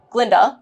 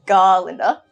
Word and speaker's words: Glinda: Glinda tries to impress Fiyero by changing her name to Dr. Dillamond's pronunciation of her name, Glinda, rather than Galinda, in solidarity with Dillamond, but Fiyero barely notices as he says goodbye to Elphaba.